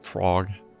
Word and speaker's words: Prague: has plenty of that prag you pronounces it Prague she pronounces it prag